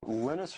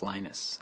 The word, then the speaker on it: Linus: lus Torvalds came along lenus or Linus what's the exact your preferred pronunciation um when I speak Swedish it's you know when I speak Finnish it's lenus when I speak English it's lonus and I really don't